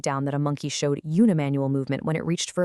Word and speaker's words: unimanual: On the flip side of that, we have unimanual, pronounced unimanual.